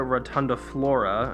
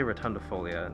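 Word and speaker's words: Hoya rotundiflora: here is my hoya rotunda flora i think i finally said it right i always say rotundifolia it's definitely not that but definitely a very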